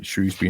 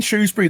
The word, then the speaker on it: Shrewsbury: one liner there is no o in Shrewsbury it's all that's an age thing that's that's an oldfashioned comes from old pronunciations of a town that's uh nearly a thousand years old it's cool um right